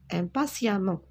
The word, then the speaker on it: impatiemment: l'attends impatiemment alors regardez j'écris eux mais je prononce à un pot s'il ya mon impasse impatiemment depuis une caroline et constant en retard il